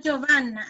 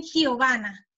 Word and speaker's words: Giovanna: A mí no me dicen en Venezuela Giovanna, a mí me dicen Giovanna. Gi. ¿Sí? Como la pronunciación de jirafa. Lo que pasa es que jirafa es con la J, pero es más la pronunciación hacia la J que hacia la G.